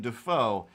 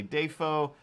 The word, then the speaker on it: Dafoe: dafoe i believe is how he said it william day foe and then they cut back and they were like day fo for all these years for 40 years you've been saying dafoe it's like are you wrong or is your